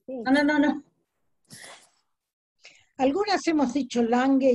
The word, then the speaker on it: Lange: Algunas hemos dicho Lange y otras han dicho Lange, pero es un apellido nórdico, por lo tanto la G se suaviza, se pronuncia Lange, pero nosotros podemos argentinizarla si queremos, eso es cuestión...